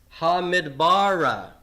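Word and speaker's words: הַמִּדְבָּרָה: mid bar wilderness deserts hamid bara hamid bara the accent is not on the comet a ha Ned bah rah okay it's an accent is on the the bah ha bah rah okay so that's telling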